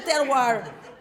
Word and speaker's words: terroir: Roll your R's, people. The terroir.